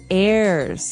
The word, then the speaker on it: heir: eslpod, and to his heirs. This is our next word. What is an heir? Now, if you notice, the H is silent there.